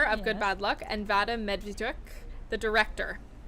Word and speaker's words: Vadym Medvediuk: Sitting with me is Xenia Lappo, the producer of Good Bad Luck, and Vadym Medvediuk, the director. How was it? Did I pronounce it?